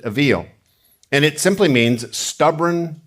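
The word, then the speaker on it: אויל: The Hebrew word for this is avil. That's how you'd pronounce it, avil.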